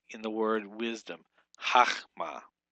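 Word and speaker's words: חָכְמָה: The comments hatuf occurs only in a closed, unaccented syllable, like in the word wisdom, chachma. It's not chokma, it's chachma.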